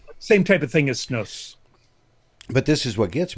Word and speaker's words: snus: It's pronounced snus, is it not? Snus or snus, it depends on where you're from.